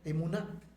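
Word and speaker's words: אֱמוּנָה: En el Antiguo Testamento, la palabra fe nuestra del Nuevo Testamento se pronuncia emuná.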